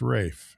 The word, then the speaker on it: Ralph: It is spelled Ralph, correct? But it's pronounced Rafe.